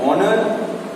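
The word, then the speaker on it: honour: सो हम मिटाते हैं एंड आर, एंड ऑनर, and honest person. तीनों एग्जांपल्स में वर्ड स्टार्ट होते हैं एच से, लेकिन ये एच साइलेंट हो जाते हैं जब हम लोग इसे प्रोनाउंस करते हैं.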